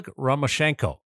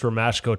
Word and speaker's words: Romashko: as well as ol renko uh romashko renko how do you say the name well I I don't think there's an n in there so it's just romashko to me well you know